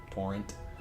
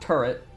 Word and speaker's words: torrent: a bit T torret torrent Tor not turret turr as everyone seems to mispronounce it T in I can speak